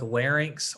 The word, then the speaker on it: larynx: fun of anybody, but you want to pronounce these as like larynx or pharynx, okay? Because just the way it's spelled, some people say pharynx, and I think what they're doing is they're switching the N and the Y, right? So just be careful with that one.